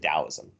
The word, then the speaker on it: Taoism: with a t or d either way you pronounce it taoism if it's spelled t-a-o you don't call it